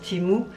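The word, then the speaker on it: Temu: sans avoir une publicité c'était ému mais ça se prononce timou et mon contact est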